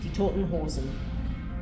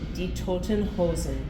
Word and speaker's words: Die Toten Hosen: I can't pronounce that. Die Toten Hosen. A little louder. Die Toten Hosen.